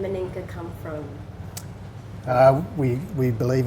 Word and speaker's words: Meninga: But obviously it's been an island name for many years, and they actually pronounce it Meninga. Meninga, do they? Meninga.